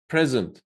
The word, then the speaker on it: present: When it's a noun, what I told you, present. The stress is on the first syllable.